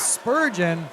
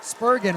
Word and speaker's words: Spurgeon: to end it is Spurgeon spurgen rather I keep like it's a it's a hard G not a soft G looking to end that